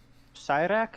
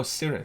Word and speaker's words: Cyric: Wait, Cyrak? maybe I'm mispronouncing it. Hold on. Contract with Basil. Hold on. God of Murder. Oh, Cyric. Cyric. Right. Sorry. Okay. No, it's fine. It's just it's Cyric.